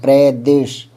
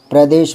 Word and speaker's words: प्रदेश: प्र र पर जोर देंगे। प्रदेश प्रदेश मतलब प्रांत। ठीक है?